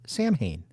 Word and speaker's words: Samhain: the strip club was London May drummer for Samhain that's right Samhain not Solon um I'm really glad you mentioned it disclaimer